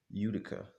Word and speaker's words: Utica: Giving our modest capital base, Mohawk Airlines, our primary target, was based in, how do I pronounce this? Utica. Utica.